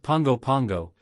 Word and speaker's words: Pago Pago: with modern American influences the name Pago Pago pronounced Pongo Pango is thought to come